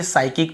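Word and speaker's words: psychic: यहां पर भी हम देखिए साइकिक पढ़ते हैं। पी को यहां पर भी नहीं पढ़ते। यदि एस के पहले पी हो तो नहीं पढ़ते।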